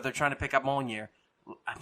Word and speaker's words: Mjolnir: that scene where they're trying to pick up Mjolnir, I'm saying it wrong. I know I am. Mew Mew. Mjolnir.